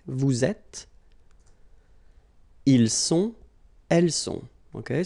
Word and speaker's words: vous êtes: elle est, nous sommes, vous êtes, okay, little liaison here, little link, vous êtes, ils sont, elles sont.